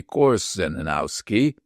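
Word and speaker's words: Korzeniowski: Similarly, in early days, Conrad always wrote and pronounced his name as Kutsenowski. The correct transliteration would appear to be course Zenowski.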